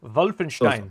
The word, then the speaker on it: Wolfenstein: gets such another nine it's a wolf it's not wolf and more of a v than a w wolfenstein oh yeah that was